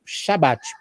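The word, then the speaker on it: Shabbat: Que, na verdade, e no português tem uma melhor pronúncia, onde o trechozinho que eu mostrei, ele diz é o Shabat. Essa expressão, ela vem do hebraico. A palavra sábado, o descanso, na língua hebraica, é Shabat.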